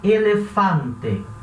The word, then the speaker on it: elefante: Em espanhol, elefante se escreve igual ao português, mas vai falar elefante. Esse A sempre aberto.